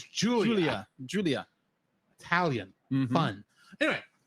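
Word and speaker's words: Giulia: Julia for the triathlon every time I see Julia's name because it's spelled g i l u u l I keep want to say guia that makes sense but her name is Julia Julia Julia Italian fun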